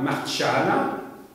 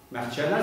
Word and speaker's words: Marciana: ça va être la base de la Bibliotheca Marciana. Marciana, ça s'écrit M-A-R-C-I-A-N-A.